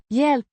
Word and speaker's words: hjälp: Pronounced Yelp. Similar to the English word, it is the object